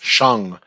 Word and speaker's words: Shang-Chi: But every time somebody pronounces it when they're being interviewed or whatever, it's Shang-Chi.